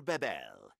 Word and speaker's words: Bebel: okay Ark it is I first called myself dr. bebel but no one could remember the correct pronunciation they called me dr. Babel as if all I